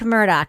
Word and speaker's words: Murdaugh: She says she says Elick because of her accent, but it's Alec. It's Alec Murdock.